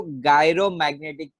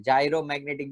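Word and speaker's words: gyromagnetic: तो मैग्नेटिक movement याद रखो, मैग्नेटिक movement and angular movement का जो रेशियो है उसको गायरो मैग्नेटिक मूवमेंट बोलते हैं। जायरो मैग्नेटिक भी काफी बार प्रोनाउंस होता है, जायरो मैग्नेटिक।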